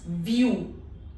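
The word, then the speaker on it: vue: U, this sound does not exist in English. Say E while shaping lips in an O. So this becomes U.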